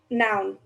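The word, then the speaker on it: Noeun: name I think uh my last name is um noun n o u n like wait spell that again n o e u n right yeah like a person place or thing uh yeah I think so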